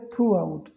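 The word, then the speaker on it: throughout: मतलब एक दूसरे को, थ्रू आउट देयर जर्नी। तो यहाँ पर थ्रू आउट को आपको ध्यान देना है, इसको हम पढ़ते हैं थ्रू आउट, थ्रो नहीं थ्रू। ठीक है, थ्रू आउट पढ़ते हैं इसको, इसका मतलब होता है पूरा या पूरे।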